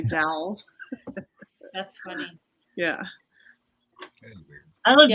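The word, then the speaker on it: The Dalles: was a kid o they have a Dows it's it's spelled the same as Dallas but DS Oregon so we always call it Dallas Oregon but it's really DS that's funny yeah I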